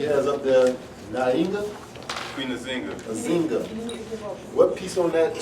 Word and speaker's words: Nzinga: All right, this word kind of hard to pronounce, y'all, but Nzinga, Nzinga.